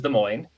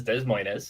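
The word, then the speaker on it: Des Moines: The capital of Iowa is De Moine and if you read it, it says Des, you know, so you'll hear that, too. That's Spanish and French all in one state.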